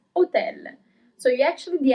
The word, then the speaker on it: hotel: you pronounce it as hotel. In Italian, it's hotel. So you actually the accent is slightly different as well, but especially you don't pronounce the first H.